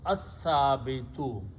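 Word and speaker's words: الثابت: And al will remove one dhamma, so it will become al sabitu, but in the tajweed, when sa is there, lam is not pronounced, it becomes as-sabitu.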